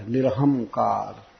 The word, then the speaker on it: निरहंकार: और भगवान को निरहंकारी कहा गया, निरहंकार। आजकल इस शब्द का लोग बहुत गलत उच्चारण करते हैं। वास्तव में पंजाब में सिख संप्रदाय में भी श्री भगवान को निरहंकार कहा जाता है।